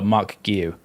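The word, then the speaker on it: Marc Guiu: Oh, Mark Guiu. Okay, that was a lot easier than I thought it was. Mark Guiu, they recalled him, but then Sunderland instantly, within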